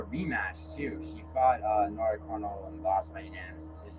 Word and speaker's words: Cornolle: Like that? It's just French. It's actually pronounced Cornolle.